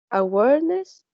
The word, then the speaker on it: awareness: And the last one is awareness. It has three syllables, and the stress is in the second syllable.